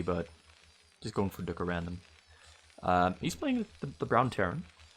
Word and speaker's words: 뚜까랜덤: You're supposed to pronounce it in the Korean way, but just going for 뚜까랜덤.